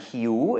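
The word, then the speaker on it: หิว: a lot you and Hugh is hungry a word you might hear or use very often it has a rising tone and so does piu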